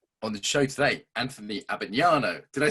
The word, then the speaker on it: Abbagnano: the show today, Anthony Abbagnano.